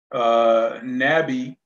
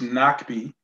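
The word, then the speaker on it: Nahbi: Nabi, which comes from Chaba, it's actually pronounced Nakbi, and it means to withdraw or to hide.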